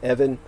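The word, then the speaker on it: Ewen: by dr evan cameron his name was spelled ewin or e-w-a-n uh aquino always pronounced it evan you say tomato i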